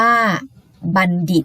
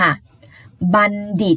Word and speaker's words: บัณฑิต: นอน นี่ นะ คะ ตัว ทอ ตัว นี้ ไม่ อ่าน ออก เสียง เป็น ทอ นะ คะ แต่ อ่าน ออก เสียง เหมือน นั่น เอง ค่ะ บัณฑิต มี คำ ต่อ ไป